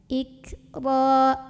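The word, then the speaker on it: إكراه: Ro ini dibunyikan secara tafkhim karena ro-nya barisnya di atas. Maka dibacanya tebal dengan cara mengangkat pangkal lidah kita.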